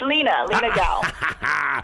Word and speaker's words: Lina Gao: What is the correct way to pronounce? It's Lina Gao.